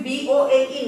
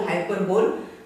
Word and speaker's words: hyperbole: The pronunciation is B-O-L-E, not bole, hyperbole, bole. H-Y-P-E-R-B-O-L-E, hyperbole.